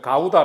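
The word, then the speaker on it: Gouda: 한국 에서 는 " 가우다 " 라고 부르지만 , 네덜란드 식 으로 발음 하면 " 고우다 " 가 됩니다 .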